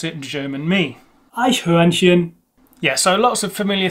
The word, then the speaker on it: Eichhörnchen: Again, an umlaut sound, U. Two CH sounds and an R in there, but this is not really a same R.